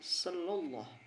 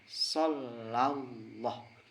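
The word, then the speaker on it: صلى الله: dari lafaz SH sallah padahal yang betul itu bukan sallah tapi SH Allah Coba kita pisahkan Sha Allah terus digabungkan shallallah itu yang betul jadi tafhimnya di dalam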